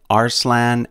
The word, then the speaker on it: Arslan: there's a connection between our salon and Aslan and indeed there is they are two different ways to pronounce the same word which means lion in Turkish help ours lands main